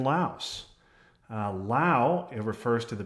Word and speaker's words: Laos: I learned today from Jim Hafley that in fact we should pronounce the S in Laos.